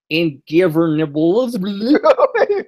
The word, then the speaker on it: Ingobernables: And again, I will give you the correct pronunciation. Los Ingobernables Ingobernables what?